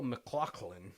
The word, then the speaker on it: MacLachlan: But we are talking about the 1987's New Line Cinema movie, The Hidden, starring Kyle MacLachlan.